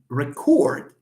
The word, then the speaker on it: record: because we know that when you have two syllables even if the word is the same when it is an an adjective or a noun stress on the first syllable when it is a verb stress on the second syllable let's give an example